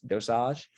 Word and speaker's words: dosage: keeps bothering me but it's really called dosage um so in french it's dosage um and so you